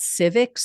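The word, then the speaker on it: Civiqs: They get it from a company called Civics, spelled with a Q.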